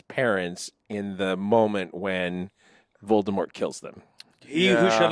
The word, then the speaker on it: Voldemort: to be the tea wasn't supposed supposed to be pronounced it was supposed to be like French like voldemor and when they made